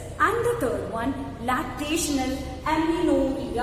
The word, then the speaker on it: amenorrhea: And the third one, lactational amenorrhea. How to pronounce this?